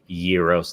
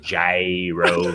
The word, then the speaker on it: gyros: mad respect to trey for pronouncing it gyros instead of jairos but yeah mad mad